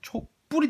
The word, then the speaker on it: 촛불: 초랑 불 합성어죠. 자, 근데 발음을 했을 때 촛불이 됩니다. 촛불 발음했을 때 그런 거예요.